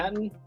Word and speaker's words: Matton: Martin? Matton. Oh, Matton. Matton. Okay. Yeah, no R.